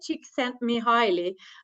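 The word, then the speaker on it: Csíkszentmihályi: I usually say that you can think about a small chicken who sent you hi she sent me highly so that's exactly no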